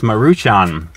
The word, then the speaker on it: Maruchan: Just so you guys know, that is pronounced Maruchan.